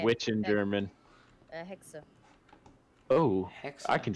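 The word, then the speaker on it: Hexe: Hexa.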